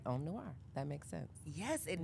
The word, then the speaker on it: Om Noir: So let's jump into Om Noir.